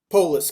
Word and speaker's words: Polis: Polis, correct. Like the city state, though not spelled the same.